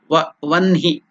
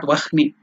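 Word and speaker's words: वह्नि: In Sanskrit it is written as Vahni, but while pronouncing according to the Panini grammar rule, you have to pronounce it as Vanhi, not Vahni. Though it is written Vahni, you have to pronounce it as Vanhi according to the grammatical rule.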